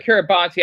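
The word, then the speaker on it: Kiribati: Pronounce the TI as an S. Whatever, dude. Whatever, dude. I just mess with Kiraabi.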